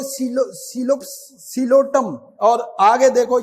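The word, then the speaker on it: Psilotum: अच्छा, इसमें भी पी साइलेंट है, सिलोटम, इसको आप लिखोगे पी से, लेकिन पढ़ोगे सिलोटम।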